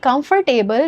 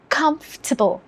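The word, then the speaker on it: comfortable: आपको हैरानी होगी कि कंफर्टेबल गलत प्रोनाउंसिएशन है। Remember English is a language of sounds not words. जो वर्ड्स में दिख रहा है वो नहीं बोलना है। सही साउंड सीखें। सो द करेक्ट प्रोनाउंसिएशन या सही साउंड के अनुसार सही प्रोनाउंसिएशन होगा कंफर्टेबल कंफर्टेबल स्ट्रेस होगा कंफ में कंफर्टेबल कंफर्टेबल यही है सही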